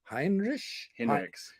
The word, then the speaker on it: Hinrichs: Hinrichs. Hinrich, yeah, whatever. It rhymes with bin bricks.